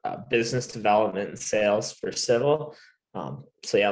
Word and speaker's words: Civille: i'm the managing partner of civil is the is the pronunciation we've heard it all so there's a non-traditional